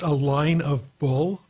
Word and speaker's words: Alignable: Well, first of all, if there's a service which you put in spaces in the name and it's pronounced a line of bull, I'm thoroughly amazed.